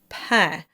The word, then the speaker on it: pain: Pain simply means bread and it's really important to sing that with an open sound because pain can get a bit squished into pain. So you don't want to get that too nasal. It's pain.